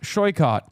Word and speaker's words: Shoykot: Tell them that my name is pronounced Shoykot, and they should learn that.